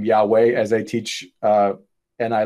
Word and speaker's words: Yahweh: for thousands of years christians called god's name jehovah until the scholars later came up with oh that's not how it's pronounced that's pronounced yahweh but christians used the